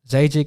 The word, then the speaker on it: Zajikc: they like hispanic so they think the jay is silent but czech czechoslovakian is zagic zajic is from my dad's side my mom's side is bernal bernal so people always confuse that though they think that jay's gone and they say zach